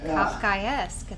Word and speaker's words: Kafkaesque: Kafkaesque.